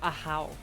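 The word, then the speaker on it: Ahaw: The pronunciation is A-H-A-W. I think. So a how.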